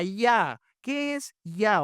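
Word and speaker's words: Jah: Versículo uno, alabad a ja o quizá más probablemente la pronunciación sería alabad a ya.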